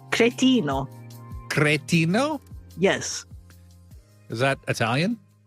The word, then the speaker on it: cretino: Catino? Cretino. Cretino? Yes. Is that Italian? Yes. Okay. How do you spell it?